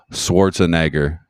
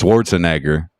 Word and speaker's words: Schwarzenegger: forgot that should be cancelable is uh Arnold Schwarzenegger you're saying his last name yeah Schwarzenegger yeah